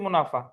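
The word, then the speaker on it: mesne: দেখেন মধ্যবর্তী মুনাফা, অন্তর্বর্তী মুনাফা, বেআইনি মুনাফা, বেআইনি লাভ। আর বাংলায় বলে কি দেখেন, ইংরেজিতে বলে মিন প্রফিট। ওই জায়গায় যে এসটা আছে ওই এসটা সাইলেন্ট থাকবে, ইংরেজিতে কি উচ্চারিত হবে? মিন প্রফিট।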